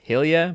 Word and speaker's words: Gille: That's my mother's middle name is Gille, which is pronounced Hilya, but I say hell yeah.